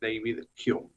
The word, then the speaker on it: David Hume: se escribe David Hume, es de origen escocés, ¿sí? Por eso se pronuncia así, David Hume, porque en Escocia se habla en inglés.